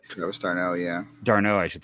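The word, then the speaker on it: d'Arnaud: armed tomorrow but I was starting oh yeah darno I should say yeah I always get his name wrong uh they should be trading for darno tomorrow but like at the same time this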